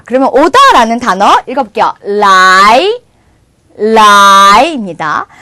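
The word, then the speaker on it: 来: 라이, 라이입니다. 자, 그래서 여러분 중국 영화에서 혹시 이런 발음 들어보신 적 없으세요?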